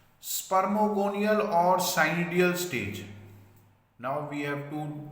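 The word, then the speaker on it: Pycnidia: Next is spermogonia or cynidia. Here P is silent. Then you will say only cynidia or spermogonia.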